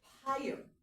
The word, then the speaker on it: pyre: And 2 words in English are pyre. It rhymes with fire. So think of fire. You'll hear pyre, a fire.